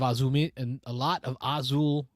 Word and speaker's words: Azul: Did I put the emphasis on the wrong syllable?